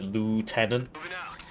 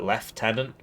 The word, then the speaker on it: lieutenant: I haven't had a chance to point out that the Americans will be getting mad cuz they call it lieutenant. We call it left tenant.